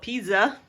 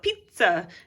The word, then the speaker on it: pizza: And pizzicato is spelled this way, just like pizza is spelled with two Z's, and we don't call it pizza, we call it pizza. It's almost like there's a T sound in there, and now you know how to spell that.